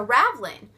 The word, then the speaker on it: raveling: or something it's a ravlin and like i said that's not how it's spelled but that's how i pronounce it it's just a piece